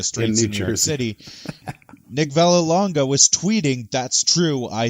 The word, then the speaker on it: Vallelonga: the fact that I want to say the pronunciation is Nick Vallelonga. Vallelonga.